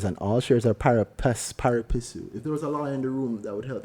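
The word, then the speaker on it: pari passu: all shares are par parisu if there was a liw in the room that would help me it would be so great how do you pronounce parisu parasu par parasu again parasu parasu thank you I don't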